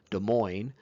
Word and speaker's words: Des Moines: this funky state capital, Des Moines, with all these S's you don't pronounce?